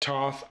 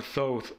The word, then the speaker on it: Thoth: His name is usually pronounced Thoth or Thoth, but both are translations of the more accurate Tehuti or Jehuti.